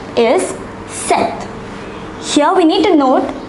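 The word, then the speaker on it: sept: is 6 7 is set here we need to note that the letter p is silent so number 7 is pronounced as seth 8 9 10 these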